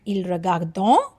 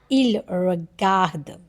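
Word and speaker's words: ils regardent: And ENT we will not pronounce. Okay. So we'll pronounce it like il regarde. Rather than il regardons, we'll say il regarde.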